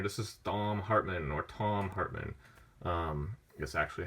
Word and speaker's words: Thom Hartmann: almost done here this is donnell hartman or thom hartmann yes actually how you would pronounce his name this is a pretty cool